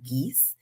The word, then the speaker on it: Gies: Pronounce it Yep. correctly? Gies?